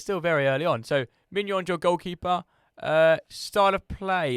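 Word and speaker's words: Maignan: The first pick for Leny FC is Mike Mignon for AC Milan. Okay, you've done me a favour because I've not said Mignon. You really nailed that pronunciation there as well.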